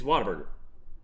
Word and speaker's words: Whataburger: It's Whataburger. You're still mad at me for asking you how do you pronounce that name, aren't you?